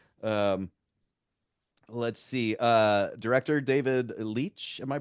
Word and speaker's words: Leitch: Director David Leitch. Am I pronouncing that right? Do you know Hilty? Is it Leitch?